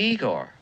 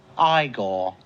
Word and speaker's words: Igor: nice you must be Igor now it's pronounced Igor but they told me it was Igor well they were wrong